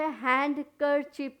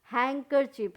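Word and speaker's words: handkerchief: अब हम यहाँ पे हैंड कर चिप नहीं कहेंगे, हैंकर चिप, HAN, हैंग कर चिप, डी क्या हो गया, साइलेंट हो गया।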